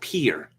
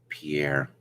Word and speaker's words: Pierre: Of course, there is a city in South Dakota spelled Pierre, which is pronounced Pierre and not Pierre.